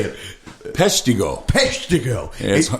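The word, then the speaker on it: Peshtigo: p how do you say the time you pisho I messed it up didn't I oh it's pretty close pretty close you know once Tom T Hall called it pido how do you say it peso peso it it's home of the world's worst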